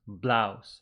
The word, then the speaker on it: blouse: where's my new blouse the pronunciation of blouse which is ow it is like house blouse Mouse what color is your